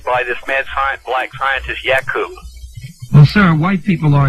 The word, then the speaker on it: Yakub: from black people and come from Yakub is the correct pronunciation, what does that say about Yakub and black people?